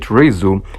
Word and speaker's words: Rezu: But it wasn't something serious, so I always said Rezu.